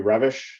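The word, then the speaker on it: Reves: Peace um by Emory revish is how it's pronounced although in English it looks like Reeves uh which talked about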